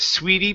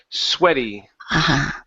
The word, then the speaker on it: sweaty: word right here so instead of sweetie Palms this is swe sweaty sweaty good I ignore my sweaty Palms I ignore my sweaty Palms okay good all right so sweetie is going to be The Double E like that that one